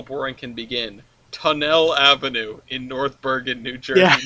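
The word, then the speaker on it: Tonnelle: It's spelled T-O-N-N-E-L-L-E. No, yeah. we don't live above a tunnel. We live above a tunnel. Tunnel Avenue. Freaking French. The tunnels. Yeah. Tunnel. Yes.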